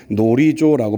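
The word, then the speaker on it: γνωρίζω: 그놀이조 정확하게는이 그가 무음이 되기 때문에 놀이조라고 발음하는 것이 맞는데요.이 놀이조라는 말을 씁니다.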